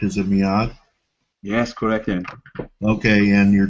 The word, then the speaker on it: Miad: already given people that Miad's uh am I pronouncing your name correct? Is it Miad?